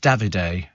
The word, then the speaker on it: Davide: And Val says, "My daughter told me David on Love Island is pronounced Davide." Davide, is it?